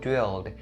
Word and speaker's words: drilled: the word "drilled" so drill when it is an infinitive it ends with an / l / sound and /l/ is a voiced consonant. So the ed part at the end of this word has to be pronounced as the /d/ sound so drilled and the next point